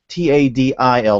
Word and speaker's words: Tidal: It's Tadil, like the ocean Tidal. I know I say it like Tidal.